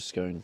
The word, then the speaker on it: scone: I just called it scone. Scone. It's gone. I know some of you like, "Ah, you said it right that time." That's how you say it.